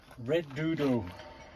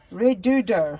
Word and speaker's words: Redodo: Redodo. Redodo.